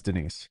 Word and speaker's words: Denise: By the way, am I saying your name correctly or is it or is it Denise or Denise? cuz I'm Americanized obviously and Americanized. I'm American. So, the way that I pronounce names are very tell because I'm also a Russian speaker. Okay. Yeah. So, it's Denise.